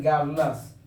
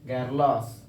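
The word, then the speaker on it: girls: देखिए यहाँ पे गर्लस, आर को हल्का साइलेंट करिएगा यहाँ पे, गर्लस।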